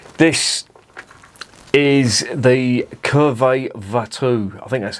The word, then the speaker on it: Watou: This is the Cuvée de Watou. I think that's how it's pronounced. It's from Flanders, so I'm assuming they pronounce the W as a V.